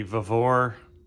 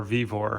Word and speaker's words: Vevor: All right, we have the Vevor or V vor, however you want to pronounce it, wire stripping machine model 038-MDA.